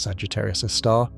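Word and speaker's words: Sagittarius A*: Astronomers call it Sagittarius a star, pronounced Sagittarius a star.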